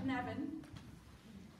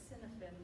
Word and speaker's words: Cynefin: And if you haven't seen this word before, don't try to pronounce it by looking at it. Those are the people who know what it sounds like. Cynefin. If you look at it, it's Cynefin or something like that.